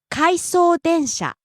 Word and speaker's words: 回送電車: 回送電車、 Out of service train. Train returning back to the train depot. かいそう電車、回送電車、 Rising on the second syllable e, falling on the second to last syllable n.